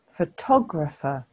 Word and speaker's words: photographer: did you do with the next word photographer can you see that the stress mark has shifted to the second syllable because we say photographer so it's different to photograph can you hear as